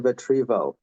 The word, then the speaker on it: Vetrivel: Vetrivel, am I pronouncing correctly?